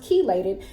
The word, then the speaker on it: chelated: why this here says chelated and that is pronounced chelated that's because it's bound with other nutrients and